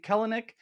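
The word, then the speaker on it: Kelenic: one I was like did he say kellanick and then you'd said kelnik perfect and then I love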